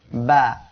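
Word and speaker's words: ب: প্রিয় দর্শক শ্রোতা, বা অক্ষরটি ঠোঁটের ভিজা অংশ হইতে উচ্চারিত হয়। 2 ঠোঁট এর ভিজা অংশ অর্থাৎ এই পাশ দিয়ে উচ্চারণ হবে।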